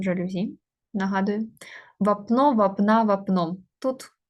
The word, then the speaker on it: жалюзі: кангуруту не ательє підходить тире вапно жалюзі з наголосом жалюзі нагадую вапно вапна вапном тут є закінчення графіті